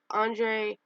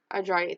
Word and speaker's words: Andrade: So next part of it is Andrean, can you pronounce it? Andrade, thank you.